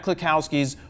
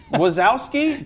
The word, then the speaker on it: Kluskowski: Is to talk about Matt Kluskowski's Photoshop system. Dude, you totally pronounced it right before we were on. Kluskowski. Wazowski?